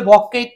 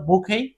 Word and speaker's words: bouquet: rule শিখব জাস্টটা হল ফরাসি শব্দের শেষে কিউ ইউইটি এর উচ্চারণ হবে কে আর ফরাসি শব্দের শেষে